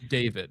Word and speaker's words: D4VD: D4VD is David. That's how it's supposed to be pronounced.